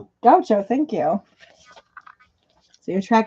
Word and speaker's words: Gaucho: I think this is pronounced Gaucho.